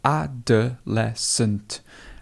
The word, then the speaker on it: adolescent: But notice here how we've got this schwa, so it becomes sunt, adolescent.